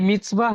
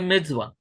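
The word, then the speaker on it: מצוה: जी मिtzvah है ये। जी, परफेक्ट। ये है मिर्जवा, और मिर्जवा का अर्थ क्या होता है, कमांडमेंट्स, कमांडमेंट्स, आज्ञा।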